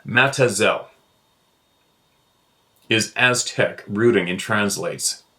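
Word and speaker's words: Mazatzal: and Gila County Arizona mat szal pronounced by the locals as matazel is Aztec rooting in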